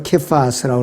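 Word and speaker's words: Κηφᾶς: 원래 히브리어 헬라어 발음대로 케파스라고 그러는데 게바는 고대 시리아어인 아람어로서 베드로라는 말과 같은 뜻이에요.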